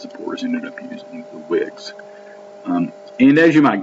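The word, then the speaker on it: Whigs: hand became known as wigs all right now that's not like with the thing you wear in your head um pronounced the same way spelled differently uh but that's an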